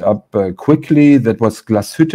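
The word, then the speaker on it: Glashütte: uh quickly that was glaswet or original that's um the proper pronunciation which was owned actually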